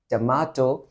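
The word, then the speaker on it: tomato: दैट is this और इसको हम ब्रिटिश में प्रोनाउंस करेंगे तो ये होगा टमाटो अगर हम अमेरिका प्रोनंसिएशन की तरफ जाएंगे अमेरिकन में तो वो होगा टोमेटो तो इसमें कोई भी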